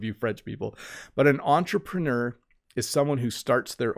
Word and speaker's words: entrepreneur: Entrepreneur. So this word, obviously, when we pronounce it in English, we say entrepreneur. In French, you would say entrepreneur.